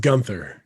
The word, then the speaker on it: Gunther: pronounce your last name it's pronounced gunther gunther okay so today i